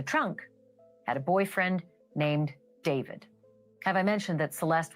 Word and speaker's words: D4vd: were David Anthony Burke, better known as David, spelled with the number 4.